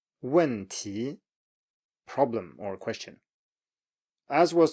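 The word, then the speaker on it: 问题: falling and then rising. So 面条, noodles, 面条, or 去年, last year, 去年, 去年, and then 问题, 问题, problem or question.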